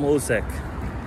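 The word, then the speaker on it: Hložek: the bundesliga next season adam osek that's how his name is pronounced playing for by liverpool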